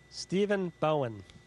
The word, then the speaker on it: Stephen Bowen: for me I want to make sure I pronounce it properly Stephen Bowen Stephen Bowen welcome to welcome to gbh's All